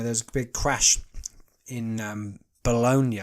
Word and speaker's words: Bologna: a big crash in Bologna I believe that's how they say it Bologna in Italy where a tanker lorry carrying